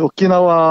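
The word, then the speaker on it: 沖縄: 오키나와 하면은 그 한자로 쓰면 충승이라고 씁니다. 바다 충자에다가 새끼줄 승자를 쓰는데요. 예. 바다에 놓여있는 새끼줄 모양의 섬들을 오키나와라고 읽었습니다. 예.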